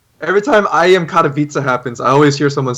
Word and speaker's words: Katowice: like every time I am Katowice happens, I always hear someone say Katowice, and I'm like, oh yeah, that Rotterdam.